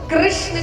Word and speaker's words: कृष्ण: कृष्ण कहने में जीभ घूमती है।